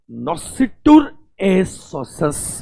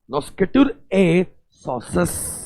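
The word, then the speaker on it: noscitur a sociis: चलो class, last जो आज का डिस्कशन है अपना, दैट इज ऑन नॉसिटुर ए सोसस बोलते हैं, कुछ कुछ सोकाय बोलते हैं, ठीक है, सबके अपने अपने प्रोनाउंसिएशन है। नॉस्केटुर ए सोसस या सोकाय, ठीक है।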